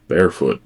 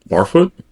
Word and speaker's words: Barfoot: Vanti barefoot. This is going to be good. Barfoot. Venty Barfoot. Well, if there was an E, it would be barefoot, unless he pronounces it barefoot.